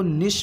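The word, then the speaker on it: niche: हालांकि इसको निश भी आप बोल सकते हैं, एक प्रोनाउंसिएशन इसका ये भी है, निश।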